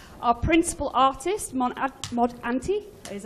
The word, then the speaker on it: Ante: Our principal artist, Mod Ante, is how you say your mod name.